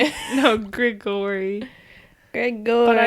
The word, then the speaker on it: Gregori: And it's Gregori. Gregori. No, Gregori.